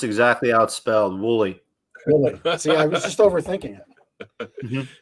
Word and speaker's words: Woolley: should be able to say that holy is that right did i mess it up i messed it up pronounced exactly outspelled wooly i was just overthinking it yep don't overthink